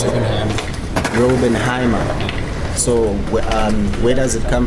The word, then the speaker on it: Raubenheimer: How do you pronounce it? Raubenheimer.